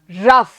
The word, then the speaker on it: rough: जी एच को हम बोल रहे हैं फ. रफ. Okay, रफ.